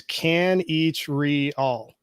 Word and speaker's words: Kanichirayil: your last name uh it's a lot easier than it looks it's can each re-all so wow four syllables wow that's amazing yeah